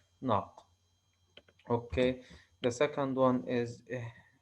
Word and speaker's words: نق: We put N and قاف together and pronounce them as a unit, as a one unit, as a meaningful unit, as ناق.